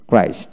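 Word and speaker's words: Christ: তারপরে সি এইচ আর এস টি, ক্রাইস্ট, উচ্চারণটা ক্রাইস্ট হয়।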